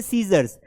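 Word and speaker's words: scissors: 5 word ऐसे हैं जहां पर हमें सी को प्रोनाउंस ही नहीं करना है। जैसे सीजर्स, तो यहां पर इसका मतलब स निकलता है, आई मतलब ई हो गया, तो सीजर्स हो गया।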